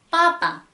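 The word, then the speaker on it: папа: 바로 이 러시아어 빼 발음을 하실 때는 한글 이 쌍비읍에는 이 티슈의 떨림이 전혀 없었다면 여기서는 약간의 공기를 섞어주셔야 합니다.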